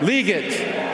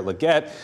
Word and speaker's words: Legette: Carolina Panthers select Xavier leate wide receiver South Carolina that was NFL commissioner Roger Goodell with a uh bit of a tough time pronouncing the right name there Xavier Legette this was the moment